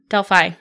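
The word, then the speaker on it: Delphi: was the dely murders Deli Deli is that how it's pronounced yes yes Deli murders went in India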